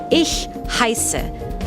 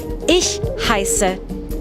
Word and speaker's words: Ich heiße: To say my name is Frau, I say Ich heiße Frau. To make that sound for the word I, you kind of have to hiss like a cat.